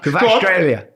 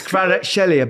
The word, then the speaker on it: Kvaratskhelia: Kvaratskhelia.